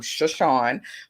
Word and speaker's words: Shaashawn: part shawnee indian and when you break down shawnee phonetically is s-h-a-a and she always loves shawn so i'm shushawn put together so i'm back on